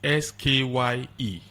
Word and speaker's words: Skye: The old Skybank is SKYE, still pronounced as Sky.